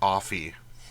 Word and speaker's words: Offee: how we get Barris offy because it's it's spelled like coffee without the C so I mean anyway